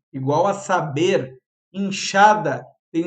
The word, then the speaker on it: enxada: Inchada tem o som de X mesmo, né?